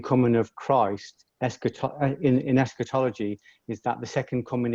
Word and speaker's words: eschatology: the um theory of and and help me pronounce this um is it eschatology yeah yes say it again eschatology eschatology thank you eschatology now when i um looked